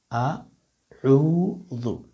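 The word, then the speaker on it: أعوذ: আউযু, অনেকে আউযু বলেন, এটা হলো ভুল উচ্চারণ। শুরুতে একটা যে হরফ আছে সেটা হচ্ছে আলিফ। হ্যাঁ, আউযু, শুরুটা হচ্ছে হামজা, পরেরটা হচ্ছে আইন।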